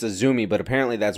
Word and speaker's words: AZM: I said because it's Azumi, but apparently that's wrong. No, I don't. What's up? So the way you pronounce the letters AZM in Japanese is A, Zu, and Mi.